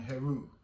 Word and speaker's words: Heru: Asar, Aset, and Heru.